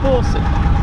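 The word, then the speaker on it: Boursin: I don't know how you pronounce it. Is it Porson?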